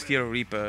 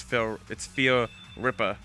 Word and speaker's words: Fear Ripper: I always used to pronounce it as Fear Reaper, and then I realized, oh, it's Fear Ripper.